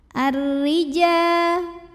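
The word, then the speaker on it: الرجال: Maka lam tidak kita baca, langsung masuk ke ra atau diidghamkan. Ar-rija. Huruf ra dibunyikan secara tarqiq sebab barisnya di bawah kasroh. Maka bacanya tipis, pangkal lidah datar. Ar-rija. Ja mad tabi'i. Mad tabi'inya mad tabi'i zahiri. Karena ada alif yang didahului baris fathah, maka jimnya kita panjangkan 2 harokat saja.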